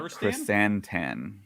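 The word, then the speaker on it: Krrsantan: It's Black Chrysantan.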